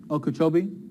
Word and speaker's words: Okeechobee: could they get cheeky kabhi I'm not sure Okeechobee thank you look at the difference there it's